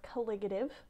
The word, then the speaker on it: colligative: into colligative properties so that's that word it's pronounced colligative all right so when you have a pure